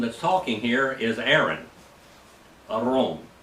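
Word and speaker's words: אהרן: talking here is Aaron Aron is how you say his name in Hebrew Aron it means like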